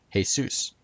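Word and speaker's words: Jesús: hail Zeus comes from the Spanish name for Jesus which is pronounced Jesus and it actually seems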